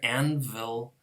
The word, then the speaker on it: anvil: Same thing here, anvil is actually pronounced, when we say it fast, anvil, anvil, anvil. It's this labiodental sound.